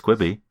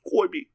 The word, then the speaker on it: Quibi: anything like this before i mispronounced what i said earlier i might say it's quivi it's koi be yeah um i mean